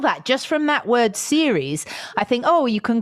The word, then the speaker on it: Ceres: Okay, so we're going back to Ceres, series. Okay, now I find series. Now this is interesting that you pronounce it series, because my brain immediately thinks